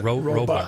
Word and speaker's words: robot: Why do you pronounce it like it's spelled R-O-B-U-T? robot.